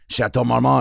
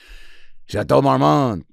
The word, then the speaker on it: Chateau Marmont: like that from the chateau marmot chateau marmon and then some people say it like that if they're an or they're starting ratatouille chateau marmont right and uh so i'm